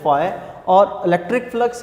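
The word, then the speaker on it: φ: Greek language का word है, pronounce आपने इसको करना है फाई, और इलेक्ट्रिक फ्लक्स है तो इसके लिए हम यूज करते हैं फाई ई।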